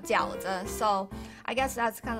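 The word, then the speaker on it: 饺子: Fried gaozi, and in Chinese pronounced called jiaozi.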